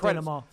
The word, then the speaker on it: denouement: It's pronounced denouement.